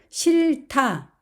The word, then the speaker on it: 싫다: 마나요 이렇게 읽습니다 겹받침 리 히은 어떻게 될까요 실타 앞에 있는 리은 발음이 되고 희은 극과 만나서 타라는 거센 소리가 됩니다 실타 실타 그리고 몸을 만나면 싫어요 앞에 있는 리은 발음이 되고 히은 탈락이 되어서 싫어요라고 합니다 그런데이 리도 역시 모음 자리로 이동을 합니다 그래서 실어요 실어요 만타 많다 싫다 싫다